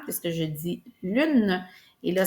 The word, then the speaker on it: lune: syllabe puisque je dis lune. Et là, ce qui est important, c'est de ne pas considérer le e muet que nous on connaît à l'écrit mais qu'on entend pas à l'oral puisque dans le mot